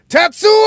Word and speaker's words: Tetsuo: A very underrated example would have to be Tetsuo! That is the correct pronunciation.